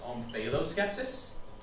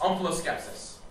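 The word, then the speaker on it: omphaloskepsis: homeful of skepsis yes can that also be pronounced om Pho skepsis it can it would be wrong OS skepsis o m p ha L oos k e p s i s OS skepsis that is is correct that's what it means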